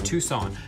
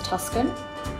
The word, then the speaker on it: Tucson: It's spelled like Tucson, but sounds like Tucson, Arizona. I feel like I've heard people refer to this place as Tuscan, but then I'm like, is it Tucson?